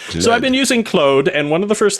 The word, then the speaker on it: Claude: Being Canadian, I pronounce it clo because it's a French name. I don't sound wrong. So, I've been using Clode and one of the